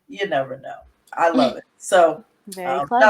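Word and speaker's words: Y'Nevano: Well, Walley has informed me that the title of his book is called, and it's pronounced, You Never Know.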